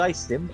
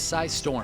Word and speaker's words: Psystorm: Is it Psystim? I don't know. It is Psystorm.